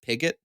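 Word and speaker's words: Piggot: name so we pronounce it correctly apparently it's pronounced pigot okay is how it's usually pronounced anyways all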